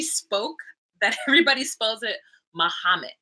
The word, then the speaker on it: Muhammad: the way she spoke, that everybody spells it Muhammad, like Mahamit, because the way she would pronounce his name, Muhammad, but it's Muhammad.